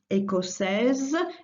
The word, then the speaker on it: écossaise: In the feminine, you add an I, écossaise, and that makes you sound the S that comes just before the I, as if it was a Z.